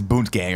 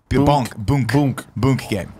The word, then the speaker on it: Boonk Gang: He is Boont Gang or whatever. How do you say it? Boont Gang? Boont Gang? Did he? So he stole a lobster. Is there a T? Yeah, no T. There's Boonk Gang.